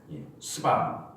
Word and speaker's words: 스바: 여기서 스바의 왕 말할 때 발음을 스바, 좀 세게 하면 안 돼요. 스바 좀 부드럽게.